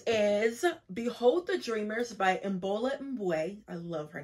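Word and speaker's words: Imbolo Mbue: Next is Behold the Dreamers by Mbola Mbwe.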